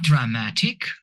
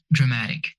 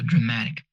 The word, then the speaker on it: dramatic: Not dramatic or dramatic, it's dramatic. The stress here is on the syllable before ik. Words ending in ik in English are stressed on the syllable before them. So dramatic.